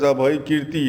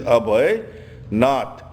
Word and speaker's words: Abhaynath: Abhay, the Tibetans have mispronounced it as Abhaykirti. It is Abhaynath.